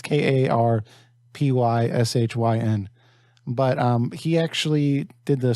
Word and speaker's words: Karpyshyn: I don't know how to pronounce his last name. It's Karpyshyn.